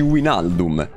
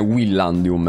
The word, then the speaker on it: Wijnaldum: E mica dici Wijnaldum. Dici Wijnaldum. Hai ragione, è Willandium, effettivamente.